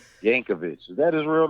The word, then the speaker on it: Yankovic: me that's right yankovic is that his real name i got some questions for al yankovic no no h at the end there jankovic yes that's how you say it all these years i've